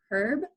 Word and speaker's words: herb: they say it like herb um the United States a lot of times we don't put the H on it I mean if you